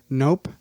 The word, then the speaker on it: Knopp: Nope. Nope. Nope. Nope. KNOPP. Oh, Nope. not as much fun. Is it Nop or Nope? It's nope.